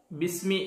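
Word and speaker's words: بسم: ബിസ്മില്ലാഹി, ഇവിടെ ബി ഇസ്മി എന്നാണ് ശരിക്ക്. ഇസ്മ് എന്ന് പറഞ്ഞാൽ പേര് എന്നാണ്, ബി എന്ന് പറഞ്ഞാൽ കൊണ്ട്. അപ്പോൾ ബി ഇസ്മി എന്നാണ് വേണ്ടത്, പക്ഷെ ഉച്ചാരണത്തിൽ ബിസ്മി എന്നാണ് പറയുക.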